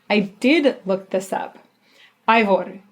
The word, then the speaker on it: Eivør: Eivør for sure is the right way to pronounce her first name.